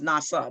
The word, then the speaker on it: NAWSA: the official newsletter of the nawsa which i pronounce nasa the acronym nasa okay next slide okay